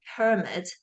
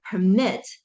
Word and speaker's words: permit: So for the noun of this word, permit, the peak is here, and then it has a low boundary tone. And then for the verb, permit, the peak is associated with the stress syllable for mit.